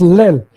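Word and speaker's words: ליל: It's pronounced lel. Lel is Lamed, Yod, Lamed, Lel.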